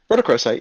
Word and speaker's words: rhodochrosite: uh yeah two i i cannot pronounce that last one it's like rhodochrosite yeah chromosite yeah rhodochrosite yeah you're right yeah and then uh